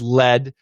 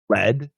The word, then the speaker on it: lead: Now, lead, past tense, and if we talk about a pencil, like this is a pencil, and inside the pencil there's lead. Well, now the pronunciation is the same, but the spellings are different.